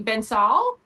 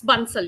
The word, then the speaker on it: Bansal: I actually not sure if I am pronouncing your last name correctly. I would say Benol. It's Bunel. Yes. Right. Bansel.